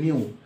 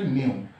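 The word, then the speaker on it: ν: এটা একক hertz denote করা হয়, মানে বলা হয় এন ইকুয়ালস টু এত বা নিউ ইকুয়ালস টু এত, এটা উচ্চারণ হচ্ছে নিউ। তো এটার উচ্চারণ হচ্ছে নিউ।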